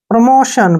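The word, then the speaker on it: promotion: next word है प्रमोशन प्रमोशन में देखिए टी के बाद आई ओ आया है जब भी टी के बाद आई ओ आता है तो टी का उच्चारण हम किस रूप में करते हैं श के रूप में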